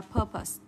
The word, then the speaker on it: purpose: Tuy nhiên cái này cho âm rơi và âm tiết đầu tiên cho cô. Âm ơ và âm ơ ngắn. Và nguyên tắc trọng âm là âm ơ này không bao giờ mang trọng âm. Cho nên cho âm rơi và âm tiết đầu tiên, purpose, mục đích. Được chưa? Chúng ta sẽ đọc là purpose, được chưa?